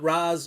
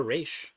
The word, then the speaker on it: Ra's: It's yeah, the Raz or Raish, depending on how you say it.